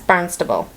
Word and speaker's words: Barnstable: And this one, that's Barnstable.